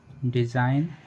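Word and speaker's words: design: जब किसी वर्ड में एन से पहले जी आए तो जी साइलेंट रहता है। जैसे साइन, डिज़ाइन, रिज़ाइन, नेस, नेट, कैंपेन, फॉरेन, नो।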